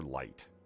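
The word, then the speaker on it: Licht: glitched or lit light i think it might just be pronounced light l-i-c-h-t that this is correct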